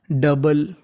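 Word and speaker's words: double: meaning को देखते हैं ओ यू का उच्चारण करना नहीं है आपको खाली बीएल का करना है तो बीए बन गया बल तो पूरी मीनिंग डबल डबल डबल का मतलब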